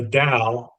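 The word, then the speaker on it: Tao: There's a book from the probably the 70s called the Dao and that's spelled T AO of physics and the subtitle something like the startling similarities between Eastern mysticism and the new physics.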